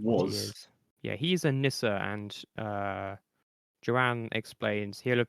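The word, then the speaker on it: nisse: Is it pronounced? It's like. Is it Nissa? Yeah, It is Nissa.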